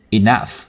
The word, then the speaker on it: enough: Enough. Nhớ các bạn nhớ enough có âm phở phía cuối.